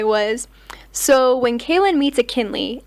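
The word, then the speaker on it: Akinli: so when kayin meets ainley a k i n l i it rhymes with McKinley ainley ainley ainley that's how you pronounce the name maybe I should do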